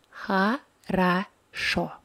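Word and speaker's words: хорошо: in this word her accent on the last o so we read it as ha ra sho then let o with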